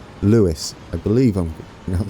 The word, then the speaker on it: Lewes: in the comments I was gonna say it's Luis I believe him you have to meet correctly